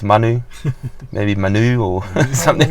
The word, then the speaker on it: Manu: So Manu was the name that I come up with,